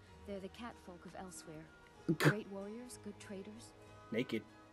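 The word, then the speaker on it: Elsweyr: the cat folk of elsewhere great warriors good traders naked way i hear it elsewhere nothing like skyrim it's got tropical forms they literally pronounce it like elsewhere it sounds awful yes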